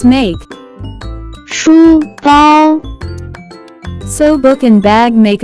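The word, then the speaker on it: 书包: can be pronounced as 书包，书包，书包。 Let's break down it to understand it even more. It has two characters, with different pronunciation. First character is 书 pronounce with first tone, it stand for book.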